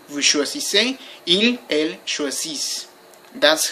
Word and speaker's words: choisissez: With vous, choisissez, don't pronounce the final Z, that's never pronounced.